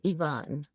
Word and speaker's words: Even: Well, it's spelled Even. So in Hmm. English in the United States, it'd be pronounced even. You know, Hmm. we're even, Steven. I'm even with you. Yeah. But in Norway, it's pronounced, say it again, to the best of your ability. To my best of my ability, I believe it's Yvonne.